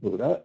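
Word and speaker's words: Bodø: actually spelled b o Doo but it's actually pronounced Buddha and this is where you have the highest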